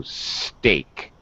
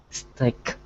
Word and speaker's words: steak: rare me too okay be careful of the pronunciation it starts with an s so steak stick better that's better thank you